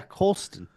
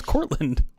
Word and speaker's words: Colston: Is it Colston Loveland? Yeah, Colston. Oh, okay. So I did get his name wrong. I thought it was Cortland.